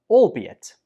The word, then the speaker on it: albeit: 24 is albeit. Albeit. The stress goes on the second syllable. Be. Albeit. Albeit. Some students say this like albeit, but that's wrong. The second syllable is pronounced be. Albeit.